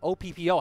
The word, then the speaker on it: Oppo: Oppo or O-P-P-O, how do you pronounce it? Oppo. Oppo, there we go.